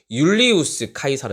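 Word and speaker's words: Iulius Caesar: 리우스 씨저 가 더이상 암이 벼 메그 영어식 발음이 고요히 사람의 원래 명칭은 율리우스 카이사르 입니다 율리우스 카이사르 어유 율리우스 카이사르의 이름을 들어가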